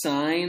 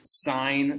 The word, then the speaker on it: sine: quickly here this is sine of theta it gets abbreviated SI n please pronounce this sign this is not sin it will be a sin to call this sin this is sine theta we lop off the